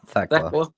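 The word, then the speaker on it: Thekla: We will see Theckla in action. Is that how you say her name? Yeah, Theckla.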